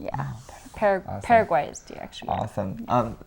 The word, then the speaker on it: Paraguay: really pronounce it right you just say Paraguay because that is like a Spanish version yeah Paraguay is the actually awesome